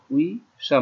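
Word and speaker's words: 의사: কেউ চেয়ারকে ডাক্তার বানায় না, ডাক্তারকে চেয়ার বানায় না, একটা হলো দন্তা শব্দ আর একটা হলো বোরকা শব্দ, উইজা আর উইশা।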